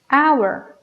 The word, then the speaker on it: hour: Sin embargo, en estas otras palabras no hacemos ese sonido, solamente pronunciamos air, honor, hour. Así que nuestro sonido inicial es de vocal, ¿ok?